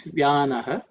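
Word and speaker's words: व्यानः: So the mantra the first mantra is Vyanaha. So because of sandhi it becomes Vyanas to me.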